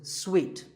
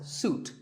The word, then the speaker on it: suite: second syllable so hotel a related word is sweet this means a set of connected rooms in a hotel and this is wrongly pronounced by many people as suit but it's sweet like when you eat a piece of candy sweet and while we're on